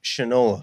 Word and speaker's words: Shinola: I believe it's pronounced Shinola.